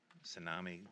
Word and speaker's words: Tsunami: system never pronounces with it's a silent T tsunami Express carwash proposed car